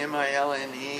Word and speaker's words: Milne: it the Melon Building, M-I-L-N-E, spelled, and I assume pronounced the same way as A.A. Milne, who wrote the Winnie the Pooh books.